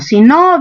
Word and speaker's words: sino: pollo a la brasa, ahí el sino se escribe junto y la mayor fuerza no está en el no, sino aquí está la fuerza en sí.